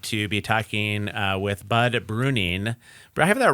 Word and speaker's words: Bruening: My name is that E in the middle kind of throws people off, but it is silent, so it's pronounced Bruening, and I appreciate you guys having me.